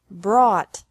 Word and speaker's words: brought: is the same bring brought brought buy bought bought catch caught caught fight fought fought seek sought sought teach taught taught think thought thought remember that the g is silent in these verbs verbs with three different